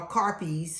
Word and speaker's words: crappie: um and we did crappies uh carpes or crappies they pronounce it differently in different areas but it is you